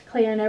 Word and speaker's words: Cleona: And Cleona, I hope I said that right earlier, Cleona, pronounced like Fiona, I got it, was the goddess of the beautiful Celtic otherworld.